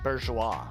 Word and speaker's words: bourgeois: Okay, apparently it's pronounced bourgeois.